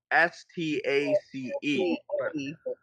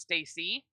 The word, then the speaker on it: Stace: that it's it's spelled s t a c e always pronounced as Stace and not Stacy that's never pronounced Stacy she is that way